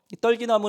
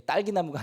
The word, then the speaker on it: 떨기나무: 있어요 사자가 떨기나무 있는데요 떨기나무 는 이 발음을 조심해야 됩니다 이 딸기 나무가 아닙니다 가시덤불 같은 거예요 앙상